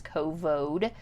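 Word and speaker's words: Covode: the kovode committee and i'm trying to be very careful how i pronounce that because it's not the other c word it's kovode it was named after a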